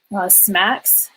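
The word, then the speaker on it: SMACSS: didn't cover um that i use pretty regularly smacks is which is how this first one up here is pronounced generally just tells you how to structure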